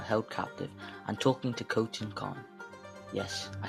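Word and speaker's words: Khotun Khan: We see a little cut scene of Lord Shimura held captive and talking to Cotton Khan.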